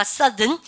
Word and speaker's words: southern: 여러분들 이게 발음이요. 발음 바뀝니다. 발음가 southern. 그죠?